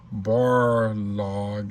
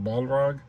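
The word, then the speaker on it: Balrog: A lot of y'all were talk telling me stuff about um my misper mispronunciation of bar log and it's ball wait right balro. I was saying barro barlog.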